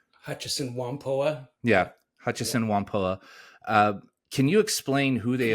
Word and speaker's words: Hutchison Whampoa: Your story kind of centers around a company called Hutchison Whampoa. Am I pronouncing that correctly? Hutchison Whampoa. Yeah, Hutchison Whampoa.